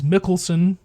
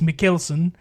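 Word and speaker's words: Mads Mikkelsen: Uh specifically Casino Royale, one of my favorite Bond films which stars Mads Mickelson. I say I've been saying his name wrong for so long. It's Mckelson.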